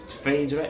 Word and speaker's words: Phaedra: Phaedra Parks needs to be brought back.